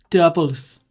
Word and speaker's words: tuple: Tuples. I pronounce it tuples, but tuples.